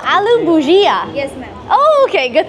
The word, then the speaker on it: aloo bhujia: Aloo bhaji. Maybe you should ask her how they pronounce it. How do I pronounce this? How do I pronounce this word? Aloo? Ma'am, aloo bhujia. Oh, aloo bhujia.